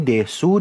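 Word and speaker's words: です: Ini tulis ini desu, dibacanya des ya.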